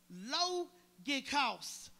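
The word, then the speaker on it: λογικός: The word reasonable in Greek is pronounced logikos, meaning rational or logical.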